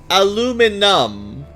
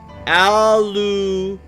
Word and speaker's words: aluminium: How do you get aluminum when there's an I right here, Blood Angel? Alumin-E-um. But yes, I know. North Americans classically mispronounce it.